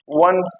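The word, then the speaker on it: one: Sound को ध्यान दें। पहले वन वन डब्ल्यू से स्टार्ट हो रहा है।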